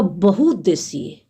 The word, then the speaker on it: बहुउद्देशीय: बहुउद्देशीय शब्द का उच्चारण गलत कर देते हैं। ये शब्द जो है वो है बहुउद्देशीय।